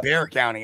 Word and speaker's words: Bexar: um you know we we pronounce it bear the the x is is silent um oh that's right that's right Bear County I yes I remember